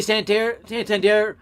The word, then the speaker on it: Santander: There's no way Santander, actually is how you pronounce that, could have gotten near that.